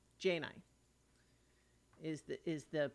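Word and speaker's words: Djaynai: a i uh oh I'm saying it wrong jainai Jane I is the is the pronunciation j9 and let me open the guess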